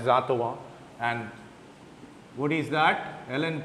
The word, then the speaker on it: Antoine: we use the empirical atwas equation it's not antoine it's atwa it's pronounced as atawa and what is that